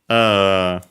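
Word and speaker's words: 姫: Hime, well, actually, hime should be, if I recall correctly, accented on its own. Yeah, accent on the first syllable.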